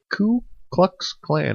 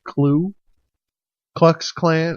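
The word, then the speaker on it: Ku Klux Klan: a member of the C cluck Clan and I have to make sure I say it right because I have a tendency to say clue clux Clan and it's that it's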